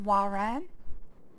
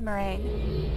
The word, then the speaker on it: Moiraine: Like, one of the characters is, I think it's pronounced Moiraine. I always said Moraine, because it sounds stupid.